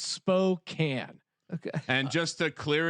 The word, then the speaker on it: Spokane: across from quarters according to the internet it's pronounced Spokane okay and just to clear it up before